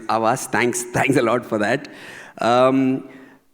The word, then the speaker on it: Havas: Avas, without the H H. silent. H silent. Avas.